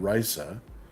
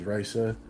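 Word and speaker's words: Raissa: or the other uh it's spelled r a i SS a like I I keep on pronouncing it Risa some people said Risa but I'm I'm just I'm Risa Risa is her is her name so yes it is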